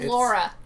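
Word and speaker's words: Lara: rug it stars uh lauren croft i i hold no no let me look this up hold on no no no no no no wikipedia says it's pronounced laura oh nora croc i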